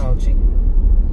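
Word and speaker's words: enoki: It's Enochi.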